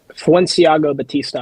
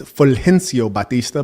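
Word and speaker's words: Fulgencio Batista: Fenciago Batista. I believe that's the pronunciation. That's wrong. It's Fencio Batista.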